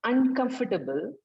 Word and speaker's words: uncomfortable: And then for the word uncomfortable, the last syllable has to be pronounced. You cannot say uncomfortable. The last syllable cannot be inaudible. So when you're using uncomfortable, give the emphasis on the last syllable also.